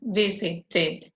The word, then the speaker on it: visited: Yes, we visited, remember if it finishes in T or D, we pronounce visited, yes, or added. When it finishes in T or D, we pronounce id.